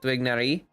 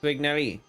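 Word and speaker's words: Tighnari: It's kind of like, it's like saying twig with an H and then nari at the end. So it's Twignari.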